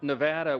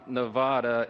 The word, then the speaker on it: Nevada: For my friends from Nevada, we are shaking. We're from Louisiana. Some people pronounce it Louisiana. So we always say Nevada, and now it's supposed to be Nevada.